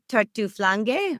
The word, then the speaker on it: Tartuflanghe: It's Tartuflanghe or Yeah, Ge.